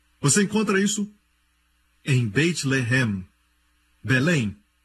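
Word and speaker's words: לֶחֶם: Se escreve da mesma maneira. Lamed, Het, Mem. Mesma escrita, a única diferença é a pontuação. Eles colocam os pontos em diferentes lugares. Um é Lehem, o outro é Lahem.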